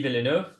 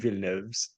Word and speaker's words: Villeneuve: Xavier Dolan, Denis Villeneuve, Denis Arcand, James Cameron.